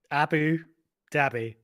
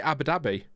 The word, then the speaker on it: Abu Dhabi: but there you go Abu dbby how do you you know how do you pronounce that not with a big gap between the words I say Abu Dhabi yeah Abu Dhabi yeah